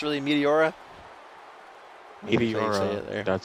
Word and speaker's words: Meteora: I still don't know how to pronounce really Meteora. Meteora.